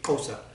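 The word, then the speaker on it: Xhosa: kosa culture um and to pronounce that correctly it would be kosa um they were doing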